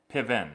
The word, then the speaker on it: Piven: Piven.